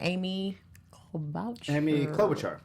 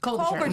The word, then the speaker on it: Klobuchar: Yeah, they were thinking about him, and they were also thinking about, I don't want to say her name wrong, Amy Klobuchar. Klobuchar.